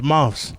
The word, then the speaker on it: MRVZ: That's how it's pronounced, Mrvz. Mrvz. People call me Mr. VZ or Mrvz. Or like, bro, I'm saying, bro, don't be making up my name, bro.